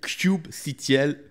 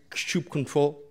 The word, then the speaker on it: kubectl: Il y en a qui disent kubecontrol, kubectl, kubectl. C'est comme vous voulez. On est dans le sud, on va dire kubecontrol.